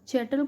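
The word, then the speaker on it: chattel: चैटल का मतलब क्या होता है? चैटल या कैटल जैसे भी इसको प्रोनाउंस करते हैं आप, तो इसका मतलब होता है मूवेबल प्रॉपर्टी।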